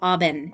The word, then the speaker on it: Auburn: We call it Auburn. It's spelled Auburn, but we can't pronounce anything with R's.